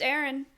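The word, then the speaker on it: Aryne: paperwork for my house her name is Aaron it's spelled a-r-y-n-e so that just made me think of that bizarre I like I didn't know how to I didn't know how to say it and so and she was like oh it's just Aaron and I was like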